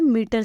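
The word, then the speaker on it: meter: है इसका यूज बड़ी ई की मात्रा वाला मीटर से हुआ है और सेकंड ई जो यूज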